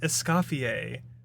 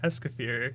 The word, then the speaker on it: Escoffier: What I got out of that was her name is pronounced Escoffier. And this whole time I've been calling her Escoffier.